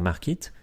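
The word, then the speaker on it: Markeet: Pour cela, quand vous créez votre compte sur Markit, donc Markit ça s'écrit M-A-R-K-E-E-T, donc .com, vous ajoutez le code INFLUENCE, tout attaché, donc I-N-F-L-U-E-N-C-E, et vous obtiendrez 20% de réduction sur votre abonnement.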